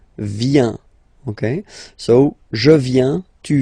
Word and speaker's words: vient: Final T not pronounced. Il, elle vient.